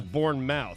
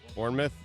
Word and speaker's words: Bournemouth: entire time because I've heard of vermouth right but this is Bournemouth right Bournemouth and it was something